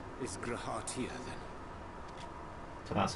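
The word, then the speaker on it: G'raha Tia: Thy true name is Grahatia, then. So that's how you pronounce it.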